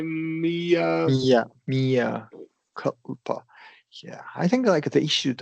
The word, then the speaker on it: mea culpa: Me coupla.